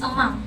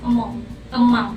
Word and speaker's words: among: The last word is among or among. But the right pronunciation is among instead of among with an A.